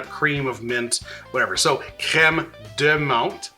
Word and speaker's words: crème de menthe: So crème de menthe, crème de banane. I'm not mispronouncing it.